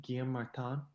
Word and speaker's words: Guillaume Martin: First today, I think this is how you say his name, Guillaume Martin.